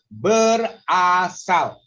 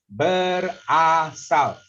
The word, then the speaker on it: berasal: So you can see that berasal. See my mouth, I show you berasal. You have to open your mouth to make sure the vowel sound is correct.